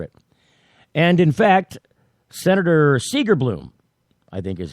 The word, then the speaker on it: Segerblom: And in fact, Senator Segerblom, I think is how you pronounce his name.